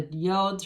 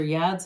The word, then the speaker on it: yods: With the Ace of Cups, these new beginnings are divinely guided with the yods or yads of the tarot, either pronunciation acceptable.